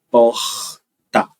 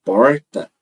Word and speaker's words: porta: né que que acontece esse R da palavra porta ele pode ser pronunciado de várias maneiras diferentes a depender do lugar